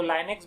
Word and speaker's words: Linux: नाम है black track लिनक्स। उसको लाइनेक्स भी प्रोनाउंसिएशन में बोला जाता है।